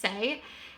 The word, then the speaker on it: SAIE: Apparently it's just SAIE.